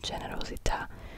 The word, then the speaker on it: generosos: protest Amigos meos meos also not generos like generous or generosos you really pronounce it like a like a g in German I feel like like a g and go to H bon bon